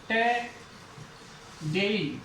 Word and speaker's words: today: जैसे मैंने लिखा यहां पे TODAY, तो ये क्या है, ओ क्या साउंड देगा, अब यहां पे ए की साउंड देगा। जैसे टे, डेई, टडेई। जैसे यहां पे शब्द लिखते